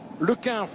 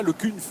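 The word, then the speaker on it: Le Cunff: Merci à Robert Chipote qui me précise qu'on prononce plutôt le Quinf et non pas le Cunf en ce qui concerne Kevin Le Quinf de la formation Saint-Michel Aubert 93.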